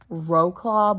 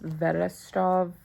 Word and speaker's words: Wrocław: It looks like it's pronounced like Wrocław, but it's pronounced Vedestrov.